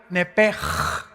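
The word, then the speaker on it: נפש: La palabra, la letra o las letras SH en el hebreo se pronuncian en hebreo como J. Entonces se pronuncia Nepej.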